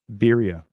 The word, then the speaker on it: Berea: Is that how you pronounce that word, Berea? Berea? Berea, not Berea. Berea. I thought it was Berea. I mean, like the town in Cleveland.